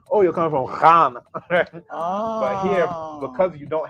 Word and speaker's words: Ghana: So it's not a G sound either. People in the country called Ghana, they actually can't even pronounce it right, but the GH is a R sound. R. And if you go to places where they have that in the language, they'll actually pronounce it correctly.